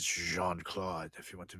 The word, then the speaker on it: Jean: here Jan yes uh you're right it's Jean Jean for for the we do have listeners in French in France and and Belgium so I should say it correctly Jean so apologies to uh anywh who when he's